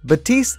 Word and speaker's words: Baptiste: out hero number 30 is batiste or baptiste is it i don't really know how to pronounce i'm not french how do you let me look it up real quick batiste ah okay batiste is the newest overwatch